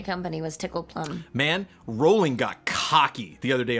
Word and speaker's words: Rowling: Man, Rolling got cocky the other day on Twitter.